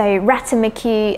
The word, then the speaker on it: ratamacue: so ratamacue are you just work off the syllables of the word so ratamacue but again